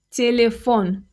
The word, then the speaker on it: телефон: Stress is on the last syllable.